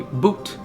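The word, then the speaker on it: bhoot: list is called a boot but it's b h o o t or or BH U so I think like the way that I pronounce it is just boot like you're wearing the boot but it's I guess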